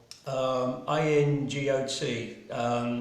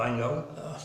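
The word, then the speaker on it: Angot: This is Julia Agnot, A-N-G-O-T. She's a French painter, so I'm guessing it's Ango, I hope.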